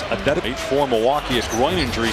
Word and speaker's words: Antetokounmpo: Here's and nobody has more pronunciations than Giannis Antetokounmpo, but in the pronunciation guide in the Milwaukee game notes, it is Antetokounmpo.